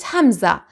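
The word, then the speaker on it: همزة: call it alefanza and some call it hamza but please don't ever call it alif because it doesn't sound like alif and it doesn't function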